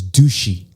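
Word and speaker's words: dushi: So in Curacao, which is really funny, but like their word for cool is douchey. Like it's spelled D-U-S-H-I.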